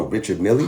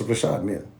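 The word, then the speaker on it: Richard Mille: It's not no Richard Millie. What? That sound like some rap It's not. It's Rashad Mill.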